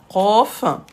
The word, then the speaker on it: قاف: فيك سعاد شكرا قاف قاف c'est bon كاف قاف à ne pas confondre قا قا il n'est pas facile à prononcer il faut aller le chercher قاف قا قا قا قا قا قاف Qof.